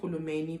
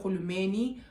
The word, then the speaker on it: Rulumeni: And I'm pronouncing it Rulumeni because I know in the Xhosa language, I think, and also in Sizulu, Halena R, right?